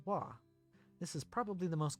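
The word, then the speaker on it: は: go through each one instead of being pronounced ha you pronounce this particle as wah this is probably the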